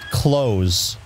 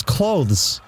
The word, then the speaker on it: clothes: fun of using idiot yeah they said you pronounce it clothes just CL OSE no psychic but it's got